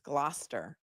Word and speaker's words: Gloucester: guys you guys are on fire today it's gluster okay so Jenna and Brian are from Gloucester